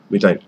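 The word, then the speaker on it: methane: মিথাইন গ্যাস, হ্যাঁ মিথাইন, উচ্চারণটা মিথাইন gas generation from দ্য composition non edible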